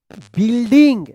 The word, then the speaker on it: building: द, क्या पढ़ेंगे, whole, यहां पे H साइलेंट वाला, होल, बिल्डिंग, देखिए यहां पे BUILDING, यहां पे ING अगर नहीं रहता तो इसके आप बिल्ड पढ़ते हैं, यहाँ पे यू जो है ना साइलेंट है, बिल्डिंग, एंड फाउंड अ